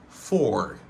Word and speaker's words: for: De manière normale, il prononce comme for. Mais réduction c'est fur.